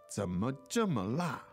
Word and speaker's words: 怎么这么辣: 怎么这么辣? Slightly like a tongue twister. A little bit. 怎么这么,怎么这么? Because the 怎么 is third tone, 怎么, yes. Right? And 这, fourth tone. So let's hear it again. 怎么这么辣?怎么这么? 怎么这么辣?